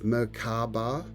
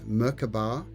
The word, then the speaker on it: Merkaba: people pronounce it as there's three ways there's murkaba there's merkabah and then there's the hebrew language where they pronounce it the merkava so you can choose which way you like to use this word it's a divine vehicle